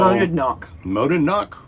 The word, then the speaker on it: Monadnock: Monadnock? How do you pronounce it? I don't know. Monad. It looks like monad rhymes with gonad. Supposedly and then you put a knock on the end.